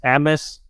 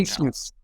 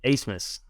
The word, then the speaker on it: Abmas: Max Abmas? Asmus? Isn't it A-B-M-A-S? The B is silent. Get to know the name when he suits up in the purple. Asmus. Yep. Asmus.